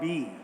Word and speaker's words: BE: So let's first begin by talking about B. I just want to clarify again, it's spelled B-E, but the brand is pronounced B.